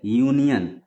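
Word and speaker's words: union: तो सबसे पहले यूनियन यूनियन जो शब्द है इसका शुरुआत यू से हो रहा है यू क्या है वावेल है लेकिन यूनियन का उच्चारण य से हो रहा है य यहां पर क्या है कंसोनेंट है तो इसीलिए यूनियन के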